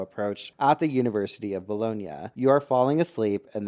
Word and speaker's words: Bologna: Wait, yeah, it's Bologna. Okay, not Bologna, I'm so sorry.